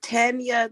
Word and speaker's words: Tanja: It's Tanya. The J is silent.